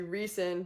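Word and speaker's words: Rhysand: I know that it's supposed to be pronounced, I believe, Aelin Galathinius, but I call her Alien, and Rysand is supposed to be Reeson.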